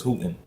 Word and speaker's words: Houghton: Jones can you say over here in the USA is halting but over in Africa and uh everything is hooting but um that was